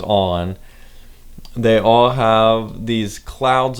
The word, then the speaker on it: On: I've heard it pronounced a million different ways, and no matter what the logo looks like to you, it is pronounced On.